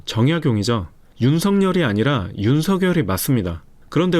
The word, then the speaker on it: 정약용: 이거 어떻게 읽으세요? 정량용이 아니라 정약용이죠.